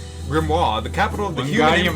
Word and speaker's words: grimoire: it the town of grimoire what in the human empire it's pronounced the grimmery uh british comedy show